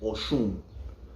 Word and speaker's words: Oshun: spelled out, but phonetically, the Yoruba say O-S-H-O-O-N. Oshun. Oshun. Yeah. And at the end, even the mouth closes, so it sounds like there's an M at the end.